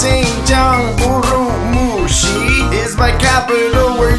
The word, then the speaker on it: Xinjiang: Please say my name, it is pronounced Xinjiang.